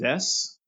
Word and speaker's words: Zess: Yes, Zest. Zess. Yeah, That one out was of four, great. baby. It was only four letters and it's spelled like Zeus, but so it's just Zess.